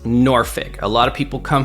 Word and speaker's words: Norfolk: of Virginia Beach just so you know it's pronounced noric a lot of people come here and they say Norfolk and saulk it is noric the original way